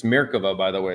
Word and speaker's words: Merkava: It's Merkava. Sorry, Merkava. And I've had to say that to myself like a million times because I grew up calling them, it's a Tamiya Merkava. Yeah, that's not how you say it.